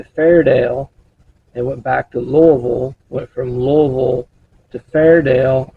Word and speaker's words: Louisville: It went from Louisville, which is how we locals pronounce it.